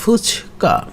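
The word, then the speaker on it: 二日: লিখতে কিন্তু ওরকমই যে 2 আর হচ্ছে মান্থের ডের চিহ্ন, তার মানে সেকেন্ড ডে, কিন্তু উচ্চারণ হবে ফুচকা।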